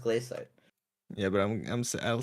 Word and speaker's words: glacite: I mean, it is shite, but it's it's pronounced glacite.